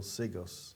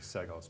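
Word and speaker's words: Seggos: All right, so now we're going to be having a new Environmental Conservation Commissioner, Basil Sigos. Yep. Did I pronounce that right? I think so. I think Okay. it's actually Segos, but close enough.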